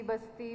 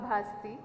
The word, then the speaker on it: ಭಾಸ್ತಿ: ಬಗ್ಗೆ ಹಲವು ಚರ್ಚೆಗಳನ್ನ ಕೇಳಿದ್ದೇನೆ ನನ್ನ ಸರ್ನೇಮ್ ಅನ್ನು ಭಾಸ್ತಿ ಬಸ್ತಿ ಬಸದಿ ಬಸಂತಿ ಅಂತ ಏನೇನೋ ಬೇರೆ ಬೇರೆ ಸ್ಪೆಲ್ಲಿಂಗ್ ಗಳಲ್ಲಿ ಯದ್ವತದ್ವ ಉಚ್ಚಾರಣೆಗಳಲ್ಲಿ ಹರಡಿದೆ ನಾನು ಭಾಸ್ತಿ ಮೂಲ ಊರು ಸಾಮಾಜಿಕ ಸಾಂಸ್ಕೃತಿಕ